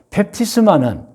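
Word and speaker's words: βάπτισμα: 그래서 펩티스마는 물속에 완전히 넣기 때문에 씻는다는 한자의 뜻이죠.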